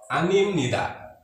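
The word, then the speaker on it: 아닙니다: Anim nida. Sekali lagi, B ketemu N, maka bunyi B-nya jadi M, maka bacanya anim nida.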